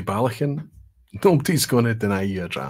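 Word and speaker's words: Ballechin: it from Balakin to Balakin. So it's the second syllable. However, if you say Balakin, nobody's going to deny you a dram.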